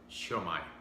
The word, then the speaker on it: Siomai: In the Philippines, we pronounce it Siomai.